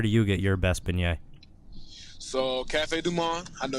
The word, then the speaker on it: beignets: we're down there, people recommend that we get beignets, I think it is.